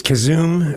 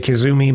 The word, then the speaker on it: Kazoom: Uh it's Kazoom. A lot of people say kazumi, but it's kazoom.